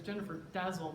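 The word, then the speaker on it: Jennifer Dasal: From the host of the beloved Art Curious podcast, whose name is Jennifer Dazzle, that's how you pronounce her name, and she is a curator herself of contemporary art and in Raleigh, North Carolina.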